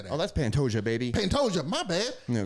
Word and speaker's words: Pantoja: Oh, that's Pantoja, baby.